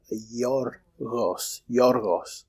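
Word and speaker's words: Γιώργος: vowel, a palatal vowel, and it makes it a Y sound. So it becomes yorgos.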